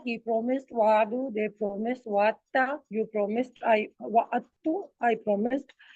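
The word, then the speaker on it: وعدتَ: Because we know already when dal and ta comes together, Arabs find it difficult to pronounce, so they omit. So they say wa'atta, like abatta, you promise.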